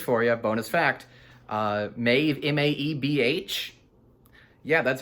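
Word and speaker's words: Maebh: is pronounced which is why this name is pronounced maeve got to take that out didn't have time i would love that if you know if you watch this that's a bonus for you bonus fact uh maeve m-a-e-b-h yeah that's how it's spelled to pronounce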